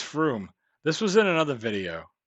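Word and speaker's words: Frome: on I am wrong now if it's from I think it's Froome this was in another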